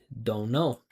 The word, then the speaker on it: don't know: in a natural way, they don't pronounce the T. They just say, "Don't know."